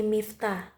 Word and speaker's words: Miftha: need to worry because you can call me mifta m i f t h a can you spell it i will be your gut during this